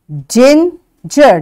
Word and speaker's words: ginger: it's soft digit apologize ginger now you see there are 2g and both will be pronounced soft sound y because after g